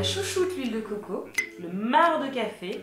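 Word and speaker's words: marc: l'huile de coco le mar de café pourquoi on prononce pas le C et du miel démo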